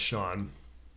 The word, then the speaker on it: Siobhan: Oh, it is pronounced Sean. I have a neighbor. Siobhan. It's spelled Sio. How do you spell it? Bhan?